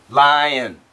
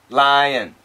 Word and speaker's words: lion: Li in the front and then n lion lion and this would be line so basically it's line it's it's one syllable this is two syllables line lion are you